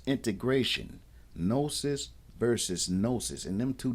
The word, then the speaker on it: gnosis: O equals to know the G is silent but important and it's same root as no knowledge recognize or diagnose cognition.